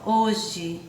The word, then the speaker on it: hoje: Observe, ó, hoje, aqui, ó, escreve com E. Mas quando a gente pronuncia com I, ó, hoje, certo?